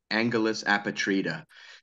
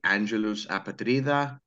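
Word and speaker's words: Angelus Apatrida: Most Americans say Angulus Apatrida. That's probably the easiest way. Some say Angulus Apatrida or Apatrida. It depends on how you want to pronounce it.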